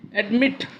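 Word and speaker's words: admit: Here there are two sounds, one is add, another is meet. Okay, so meet sounds much stronger than add. Okay, second syllable is stressed, that's why we have doubled the consonant T and add ing.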